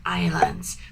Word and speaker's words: island: when you say Island please don't pronounce the S never never don't pronounce the S just say Island okay good number three